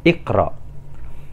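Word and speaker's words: اقرأ: Contoh di sini iqra, huruf ketiganya kan ra, berharokat fathah, maka hamzah wasol kita baca kasroh, iqra. Kemudian contoh berikutnya idrib, ini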